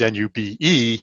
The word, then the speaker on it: nube: is the you know the latin term is n-u-b-e which is pronounced nube and so it's the phonetic spelling